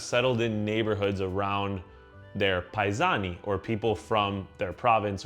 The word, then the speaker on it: paisan: The O was dropped because in many Southern Italian regional languages and dialects, the last vowel is often times not pronounced, especially heavily in the Neapolitan language. So, it went from paisano to paisan.